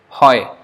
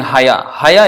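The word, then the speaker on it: হয়: So sometimes, especially we should take note of the last, like hoy. Instead of saying haya is something totally out. That is not pronounced like that at all.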